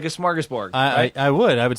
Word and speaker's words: smorgasbord: also have cold things is he really saying it right no it smorgasbord smorgasbord you cannot you can add whatever schmorg it's comprised of two words it's a portmanteau so it's swedish comprised of the word smorgas which is an open